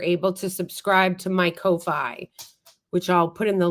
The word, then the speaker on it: Ko-Fi: Yes, it is Ko-Fi. It's spelled like Kofi with a dash.